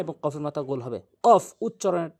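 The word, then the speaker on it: ق: কফ উচ্চারণ হচ্ছে জিহ্বার গোড়া থেকে উপরে তালু, কফ কফ, ধাক্কা দিয়ে কফ, তা কফ, সা শিন,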